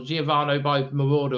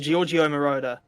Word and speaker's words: Giorgio Moroder: oh god, I can't remember how you actually pronounce the title. Giovanni by Marauder or something like that. Giorgio Moroder.